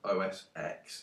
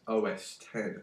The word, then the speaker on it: OS X: So yeah, please, for the love of God, don't pronounce it as OS X. It's OS 10, okay?